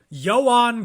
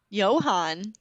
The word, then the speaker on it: Ioan: Ioan Gruffund. Oh, Johan. Not Johan, Ioan. Ioan. Y-O-A-N, yeah.